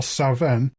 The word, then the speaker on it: Samhain: given half a chance come sa in in Scotland where I believe it's pronounced more saen you have offerings left